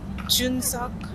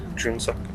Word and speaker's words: Junukch: How do you pronounce his name? Junukch. Junukch.